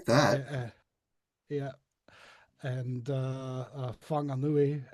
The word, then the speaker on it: Whanganui: uh, yeah, and Whanganui, and they're all spelled with W's and H's for some reason instead of an F.